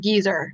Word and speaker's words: geyser: calistoga at the uh geyser the baby geyser over there yeah oh it's pronounced geezer actually oh geez sir